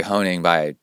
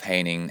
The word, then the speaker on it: Haining: from Carrie Haining, and I say Carrie Honing because that's the way it's spelled. And then Jeff sent me a little note saying, hey, that's coming from my wife's account. They're really from me. And so it's actually Jeff Haining, and I'm going to